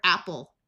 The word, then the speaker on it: apple: Here we have the word apple. This E doesn't do anything because we can say the pl sound without adding a vowel, but in English, every syllable needs a written vowel.